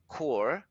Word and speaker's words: Chur: So I broke it apart and went to a place called Chur, Chur, pronounced Chur, which is in Switzerland and is right on the border, very close to Liechtenstein.